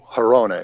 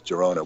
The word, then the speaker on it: Girona: in girona spain interesting hirona is the better way to pronounce it but yeah people know it as girona which is in barcelona and